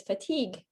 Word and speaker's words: fatigue: The word you want to say is fatigue.